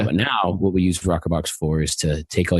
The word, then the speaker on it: rokrbox: Back in 2013, I started a company called rokrbox. It's spelled kind of strange, ROKRBOX.